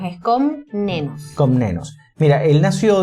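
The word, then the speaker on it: Komnenos: n o s es con nenos Exacto o sea Parece que fue ese con menos no es con menos es con nenos con nenos Mira él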